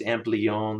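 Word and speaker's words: Ampleon: It's cool to see that RF deck here with the, I believe it's pronounced Amplion, the LDMOS FETs there.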